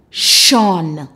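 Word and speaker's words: -tion: Sean word family t-i-o-n the pronunciation is shh on s h u n Sean let's go foreign addition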